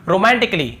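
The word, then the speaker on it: romantically: नहीं पढ़ रहे हैं फिर देखिए रोमांटिक ली रोमांटिक ली यहां पर भी देखिए एक उच्चारण नहीं हो रही है यदि होता तो क्या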